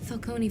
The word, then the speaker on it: Falcone: together they'll take on cd underworld types like falcone who finally got around to teaching people how to pronounce his name felconi paid him off she stood up to falcone